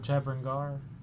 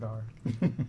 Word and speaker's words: Tebrandar: we're in front of Tebrangar. I thought it was Dar. Is it Dar or Gar? Dar. Please No, pronounce it correctly. Tebrandar.